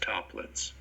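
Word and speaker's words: Toeplitz: That's how this is pronounced, toplets.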